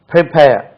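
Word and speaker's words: prepare: பி ஏ ஆர் இ நல்லா கவனிங்க பிரிப்பேர் அது பிரிப்பேர் பண்றது பிரிப்பேர் பேர் பிரிப்பேர் பண்றது சொல்லக்கூடாது பிரிப்பேர் பிரிப்பேர் காத்து இருக்கு அல்லவா ஆல் இந்தியா ரேடியோ ஏர் ஏர் ஏர் பிரிப்பேர் பிரிப்பேர் பிரிப்பேர் பிரிப்பேர் பிரிப்பேர் பிரிப்பேர் என்று சொல்லணும் அது பிரிப்பேர் கிடையாது பிரிப்பேர் பிரிப்பேர் பிரிப்பேர் பிரிப்பேர்ஸ்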